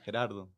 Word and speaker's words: Jerardo: Gerardo. See, that's not. With an, too. Yeah. Is how he's pronouncing it. Yeah. It's not how it's spelled, but.